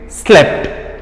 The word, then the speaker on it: slept: that sleep into the simple past it became slept right so sleep pronunciation is different slept pronunciation is different right